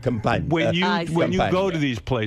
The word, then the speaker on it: Campania: Campania. Oh, you illiterate Americans, you. The region of the Amalfi Coast is where they. That's called Campania.